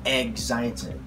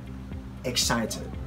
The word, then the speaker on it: excited: Excited. This is without the G, without egg.